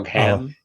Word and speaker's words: Ogham: like a little bit of how do you pronounce the word for the alphabet? Starts with an O-G, Oh, Ogham.